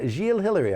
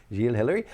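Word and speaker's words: Gilles Hilary: The piece was written by, Gilles Hillary, I think is how he pronounces his name. Yep. Gilles Hillary.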